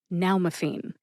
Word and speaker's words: nalmefene: Nal like pal meaning now will be your pal or your friend if you have an opioid overdose. M like mother and fiend like caffeine. Put all three syllables back together and you get napen. Emphasize that first syllable.